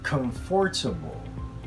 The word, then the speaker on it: comfortable: As long as the stress is on the first syllable, it's okay to syllabicate everything. So we don't say comfortable. The stress is not on the second syllable, it's on the first one.